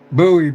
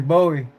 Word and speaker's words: buoy: Not buoy. What do you mean, Jerry? Bowie. Buoy. Bowie. Depending on where you're at, how you say it.